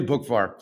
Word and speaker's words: Boockvar: on today first time on the show Peter bookvar and he's a chief investment officer over at